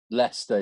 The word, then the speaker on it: Leicester: I can't fucking pronounce it. Leicester City? Leicester City? Leicester, yeah.